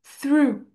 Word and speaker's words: through: Alors ça ça va ça va se prononcer through pour le H. Juste ici, tu vas vraiment venir mettre ta langue comme ça.